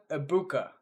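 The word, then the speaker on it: Egbuka: My guy, Emeka Ibuka. And if you don't know why I pronounced it so carefully, there's a Rob Gronkowski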